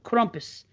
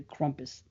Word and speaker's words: Krampus: as party podcast go Andrew Schroyer always pronounces the Krampus I think he cuz you know why I'm is he German Troy is that a German name because that's what the old German lady says the Krampus you know what I mean so maybe trying to be authentic in the pronunciation sounds like an instrument